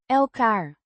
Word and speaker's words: elkaar: Pronounced elkaar with a short a sound in the first syllable.